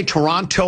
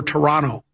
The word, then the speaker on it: Toronto: Do you say Toronto or Toronto?